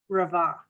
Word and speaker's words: Ravan: Ravan. No, no, I don't pronounce the N. Is that correct? No, Ravan. Okay, Ravan.